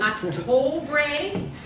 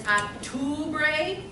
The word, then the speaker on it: octubre: So I hear a lot of octubre when it's octubre.